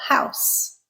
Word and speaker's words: house: Okay, house, unvoiced. I'm using it as a noun to indicate my place of my dwelling, essentially. He housed, z, voiced, he housed his boat in an old stable. In this sentence, we used a voiced sound, z, and the word changed from being a noun to a verb.